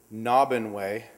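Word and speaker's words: Naubinway: type of superstructure this is a bridge in nahban way that's the proper pronunciation it's up about 45 minutes west of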